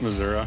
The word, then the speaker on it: Missouri: And do you say Missouri or do you say Missouri? Missouri. What's the right pronunciation? This is Missouri.